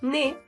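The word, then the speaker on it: ね: pronunciamos de es decir en estas letras la lengua solamente toca la puntita al paladar d mientras que en la Ne se recarga Ne el primer trazo igual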